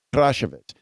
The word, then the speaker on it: Krashevets: So I would say if you're pronouncing your name, it's Krashevets, because you have a little bit of a roll of the R. A is not an A, it's an A.